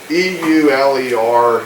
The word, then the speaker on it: Euler: his last name e-u-l-e-r which is pronounced Euler we're dealing with some German pronunciations but e-u-l-e-r he is Euler so people in the